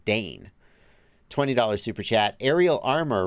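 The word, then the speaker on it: Degn: He gave a pronunciation guide, but I guessed correctly how to pronounce D-E-G-N. Dane.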